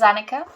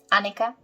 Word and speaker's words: Annika: welcome to my world my name is annika anika anika however you want to pronounce it this is how you